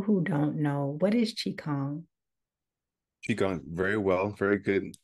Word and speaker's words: qigong: for the people who don't know what is chong chong very well very good pronunciation I got it that time yeah it's